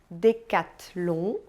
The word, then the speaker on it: Decathlon: sabe então né II outras letrinhas que a gente encontra juntinhos com muita frequência é o e o n como pronunciadas na verdade é super simples elas tensão de um como encham de um decatilum e Louis Vuitton Repita comigo Chandon Decathlon